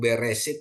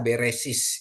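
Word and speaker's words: בראשית: ya Bapak Ibu ya Jadi kalau mereka baca kejadian 1 ayat 1 beresit gitu ya mereka akan baca beresis itu dialek askenasi dan dialek askenasi ini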